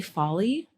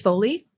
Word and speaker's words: Foley: it's honestly um really Folly I always say it wrong Foley or Folly I think it's falling Folly like in movies it's Foley okay no no fully